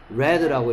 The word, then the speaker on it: read: read라고 읽는데 과거형과 입장 바뀐 어떤 시는 red라고 읽어야 돼.